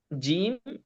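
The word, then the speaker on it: ز: বাসায় প্র্যাকটিস করতে হবে আর জা এটা জেড জি এর মত ঠিক আছে মানে জেড এর উচ্চারণের মত এবার আমরা উচ্চারণ শিখবো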